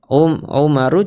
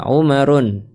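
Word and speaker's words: عُمَرُ: Jadi Umar bukan umaru cara bacanya bukan Umarun tapi Umaru ya.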